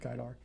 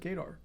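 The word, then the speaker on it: Gaidar: the 90s was named guy dark well cool which if you pronounce the English way it said gaydar he just destroyed the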